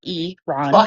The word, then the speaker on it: Iran: E, not I. Eron.